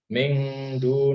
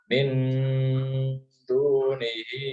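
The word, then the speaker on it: مِن دُونِهِ: Tadi ada yang baca mingdu nih itu salah ya. Kalau dal ya, kalau huruf dal ta itu bacanya agak n ya, agak n tapi tetap berdengung ya. Min dunihi ilaha, ya giginya itu panjang.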